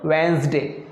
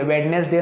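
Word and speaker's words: Wednesday: ये लिखा हुआ है वेंसडे, वेंसडे, क्या लिखा है दोस्तों, वेंसडे, वेंसडे, इसमें डी नहीं पढ़ेंगे, वेडनेसडे नहीं बोलना है, वेंसडे, क्या बोलना है हमको, वेंसडे, ठीक है।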